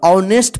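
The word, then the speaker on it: honest: एन ई एस टी इसको नेस्ट मत पढ़िए नहीं तो गलत हो जाएगा ऑनेस्ट पढ़ जाएगा ठीक है ना ऑनेस्ट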